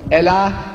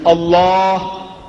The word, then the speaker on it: Allah: he who Elohim l in Hebrew means God Allah in Hebrew means god and alternative spelling Allah